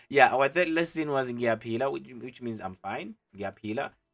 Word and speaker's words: ngiyaphila: Ngiyaphila, like I always say, just like how you peel an apple, not an apple, but an orange. How you peel an orange or a banana, whatever.